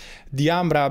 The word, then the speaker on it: DIAMBRA: the way it is pronounced i mean i'm pronouncing it the ambra because the ambra was an italian woman and so even if sometimes i happen to call it diamond because you know the the type of name